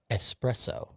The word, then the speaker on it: espresso: And I'll kick it off with this one is espresso, the coffee.